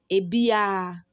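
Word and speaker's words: abiara: everybody the second one says a biara that's how it is written but when you are pronouncing it you pronounce it as a beer a beer that is any any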